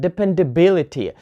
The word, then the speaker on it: dependability: is mo democracy or we have word dependability so here stress is on B because this is the third syllable from the end dependability or photography